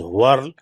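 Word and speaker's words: whorls: patterns are very important when we say w o r LS the spelling of it is pronounced as a world I have seen that in some of the universities the shouldent pronounce in different words but it should be pronounced as world right when we look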